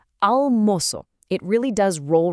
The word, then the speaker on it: almoço: For the moço half of the word, you really need to place a heavy emphasis on that first syllable, moço. Let's put it all together, almoço.